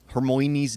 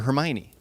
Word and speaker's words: Hermione: pronounced it that way it was actually done to correct people from saying hermoine to hermione because it was hermione granger and everyone some people were saying hermoine so it was